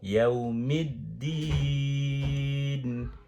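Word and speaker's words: يوم الدين: আচ্ছা, আমি বলি, এবারে উচ্চারণ করি মালিকি। আমি একটু দেখেই করি মা এক আলিফ টান, মালিকি ইয়াউমিদ্দিন, দাল 3 আলিফ, আর কোনো টান নেই।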